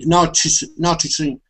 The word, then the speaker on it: noticing: Noticing. It's very difficult. T in English. How do you pronounce it? Noticing. Okay, but the difference is you can also change that T to a D sound, saying noticing.